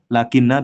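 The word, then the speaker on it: لكنّ: Dan termasuk saudara inna itu adalah yang lakinna bi tasydidin nun, dengan tasydid nun.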